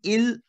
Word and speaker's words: ils: Because s would be silent. C'est clair. So sound will be il, l. I cannot say ils, else. No. That will be il and l.